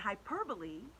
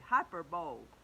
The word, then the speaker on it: hyperbole: And hyperbole, this is how you spell it. Now, some people, when they say it, they're mistaken. They say hyperbole. But that isn't right. It's hyperbole.